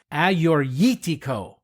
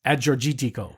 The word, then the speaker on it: Agiorgitiko: Greek wine known as aortico and again I am embarrassed and ashamed to admit that I've been saying it as Ado but wait who have